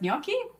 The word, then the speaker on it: gnocchi: hypothetically hypothetically this apparently this is pronounced Yi which I totally not how I thought it would pronounced so so to me